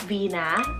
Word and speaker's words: Vina: a two-parter here i have alvina or just vina a-l-v-i-n-a or just v-i-n-a and both of these